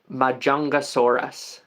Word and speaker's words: Majungasaurus: my jum got Oh gosh, how do you pronounce it again, Vitex? Um the the Majungasaurus.